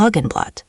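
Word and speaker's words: Roggenbrot: और रोगेनब्रोट, राई की रोटी। रोगेनब्रोट. क्या डबल G का उच्चारण हार्ड G की तरह होता है? बिल्कुल सही। आप वाकई वेंद्रा की बातें ध्यान से सुन रहे हैं।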